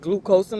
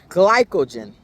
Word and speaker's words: glycogen: I said glucosin last time, but it's glycogen is what we're tapping into when we're doing the fasted.